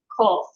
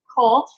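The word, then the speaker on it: קוף: It sounds very similar to the Kaf, which is the equivalent of our K, but it's actually pronounced a little bit further back in the mouth.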